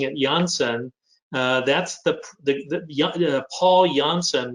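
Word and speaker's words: Janssen: i'm being snooty and sophisticated and whatever first pronouncing it yonsen that's the the paul johnson was a belgian physician who created a pharmaceutical company in 1955.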